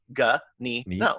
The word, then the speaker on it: Ganino: is spelled out but last name is G a in I in Oh gah knee no super easy I think